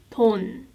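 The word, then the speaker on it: 돈: sounds like two and if you end this syllable new sound it becomes right ton and it means money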